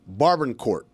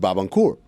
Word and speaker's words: Barbancourt: And Carl was the first one to introduce me to this when we were in college, and he pronounces it Barbancourt. Barbancourt, if I'm going to be really precise.